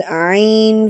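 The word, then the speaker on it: ع: And I told you that Ain, it comes from the middle part of the throat and makes a deeper sound, and we pronounce it by putting a little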